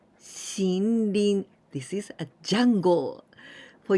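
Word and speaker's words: 森林: But here we pronounce with ONYOMI. ONYOMI of this Mori is Shin. And we say Shinrin. Shinrin.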